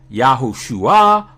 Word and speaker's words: Yahushua: The non-contracted form is pronounced Yahushua or Yahushua.